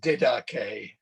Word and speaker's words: Didache: the page which looks like didache um is pronounced didache teaching of the twelve apostles it's not uh